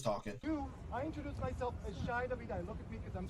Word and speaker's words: Shai Davidai: It's Shai Davidai. Okay. Like El Shaddai. Okay. Gilkakona. You don't know the next words. I'm with you. Yeah, so he was talking. I introduced myself as Shai Davidai.